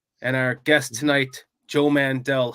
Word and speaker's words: Mandel: It's Mandel. Oh, I said Mandel, didn't I? You said it wrong. I know it's Mandel. I always think Howie Mandel.